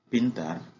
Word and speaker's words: pintar: Comme on peut voir ici, en français, on aurait prononcé IN comme IN, mais comme je vous avais dit tout à l'heure, que tout se prononce en espagnol, on dit PIN.